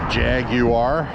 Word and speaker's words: Jaguar: is a cool buggy you have to say it like the British do they Jag you are that is a pretty